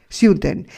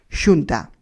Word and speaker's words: Xunta: Siunten era la versión deformada y eslava que tenía Pritchenko de pronunciar Xunta.